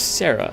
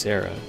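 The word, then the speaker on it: Serah: be nice yeah yeah her name is Sarah like it's spelled badly but it is just Sarah let's make this quick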